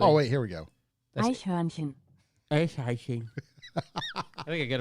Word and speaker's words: Eichhörnchen: Eichhörnchen. You want to know how it's spelt? Yeah. Eichhornchen, and then the O has the 2 dots above it. Oh, it's pronounced just like it's spelled. Yeah. Iceprevention. Eichhörnchen.